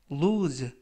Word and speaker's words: lose: 이번 표현은 lose, lose, lose 라고 발음하시면 되겠고요. 이때 유의하실 점은 알파벳 O가 이번 단어에서는 우 발음이 납니다. 그래서 lose가 아니라 lose 라고 발음하시면 좋겠고요.